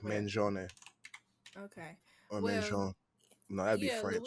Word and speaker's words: Mangione: Luigi Mangione.